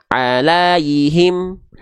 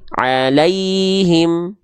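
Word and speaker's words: عليهم: sukunnya apabila sebelumnya fathah Jadi dibacanya bukan alaihim alaihim tapi alaiim Al tapi lanya tetap jelas alaihim bukan Al enggak itu tidak lembut lembutaiim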